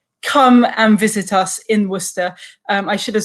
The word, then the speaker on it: Worcester: So I believe the correct pronunciation would be like Worcester. Yeah, very good, very good. It's Worcester, exactly, yeah.